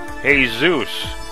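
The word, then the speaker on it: Jesús: In Spanish, his name is pronounced Hey Zeus.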